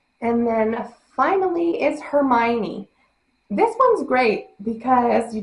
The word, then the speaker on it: Hermione: to correct me, but it's Hermione. I know, but we just slur the letters together.